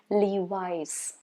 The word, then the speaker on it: Levi's: Then next one that I have for you is Levi's, not Levis. No, not Louis. No, Levi's.